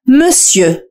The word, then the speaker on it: monsieur: كلمة سيدي هي monsieur. Monsieur. ردد معي monsieur. حاول أن تنطق صوت E في آخر الكلمة. استمع جيدا. Sieux, sieux, monsieur. ليس O وإنما E. Monsieur.